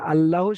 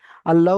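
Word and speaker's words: الله: আল্লাহ শব্দে লাম মুসাদ্দাদের ডান দিকের অক্ষরে জাবার এসেছে, তাই আল্লাহর লামকে, এই লামটাকে নয়, এই লামটা হবে না, আল্লাহর লামকে পুর অর্থাৎ ল পড়তে হবে।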